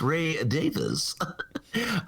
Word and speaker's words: Ray Davies: It's pronounced Ray Davis. Ray Davis of the Kinks.